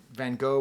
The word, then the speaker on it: Van Gogh: Proper pronunciation. He doesn't particularly like Van Gogh that much, but this one painting he happens to like a lot.